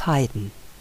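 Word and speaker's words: Haydn: how do we pronounce the names of some wellknown Austrian and German composers please listen Josef Heiden Wolfgang Amadeus Mozart Franz Schubert Johann Strauß Anton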